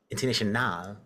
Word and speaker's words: Internationale: organization, Internationale, not International. I pronounce it International, international.